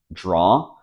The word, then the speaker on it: draw: mispronouncing remember that here the only thing you have to do to pronounce it correctly is to eliminate the W sound it rhymes with saw law you can use the